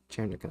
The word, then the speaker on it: Chernikov: Chernikov. Chernikov. Yeah. I just haven't been saying the N part of the word. Yeah, you didn't say the N or the I.